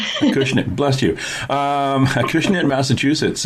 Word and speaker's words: Acushnet: And Collective Souls is at 59 Main Street, in a town in Massachusetts that I can't pronounce. Acushnet. Acushnet, bless you.